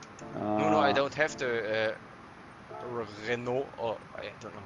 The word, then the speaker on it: Renault: No, I don't have the Renault, or I don't know how you pronounce it.